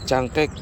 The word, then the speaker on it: Cangkek: ul yung Generation s so chek yun ang tamang pagbigkas daw diyan sabi nung Indonesian tapos meron siyang line